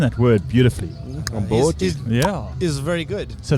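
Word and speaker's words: umqombothi: Yeah, and then when Garrett went to open it, we had a Komboti volcano. Accident. Can I just say, you're pronouncing that word beautifully. Komboti.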